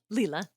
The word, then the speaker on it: Leela: In the book, um, when when do you say her name Leela or Layla? Leela. Yeah. Leela.